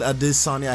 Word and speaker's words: Adesanya: And yes, you pronounce that name exactly like that.